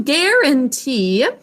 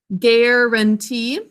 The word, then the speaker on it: guarantee: Guarantee. Let's sound that out together. Guarantee. 3 syllables. Say it with me again. Guarantee. 3 syllables. The un is unstressed. We should think to spell an.